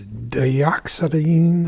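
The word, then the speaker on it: dioxazine: And I cannot pronounce the name of it, but let me try. It's dioxine or zy purple.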